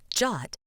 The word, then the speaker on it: JWT: Jot pronounced Jot and written as JWT is an internet standard for creating signed JSON payload data.